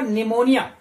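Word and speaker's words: pneumonia: यहां पर देखेंगे आप पी जो है, पी साइलेंट लेटर है, यहां पर इसका प्रोनाउंसेशन नहीं होता है, ठीक है, निमोनिया फेफड़े संबंधित बीमारी होती है।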